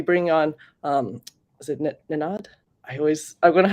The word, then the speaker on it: Nenad: so we'll be bringing on um is it nanad i always i'm going to have him um uh correct the pronunciation of his name again the co-founder of